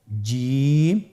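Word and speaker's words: ج: প্রথম হরফটি হল জিম। পরের হরফটি হা। পরের হরফটি খ। আপনারা আমার সাথে বলুন জিম। হা খ জিম হরফটি বারিক হরফ এটা উচ্চারণ করতে হবে তিন আলিফ টেনে দেখুন আমি কিভাবে উচ্চারণ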